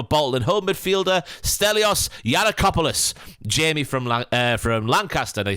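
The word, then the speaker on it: Giannakopoulos: Yankopoulos, do you remember? Certain commentators would go Yankopoulos when it's clearly Yiannakopoulos.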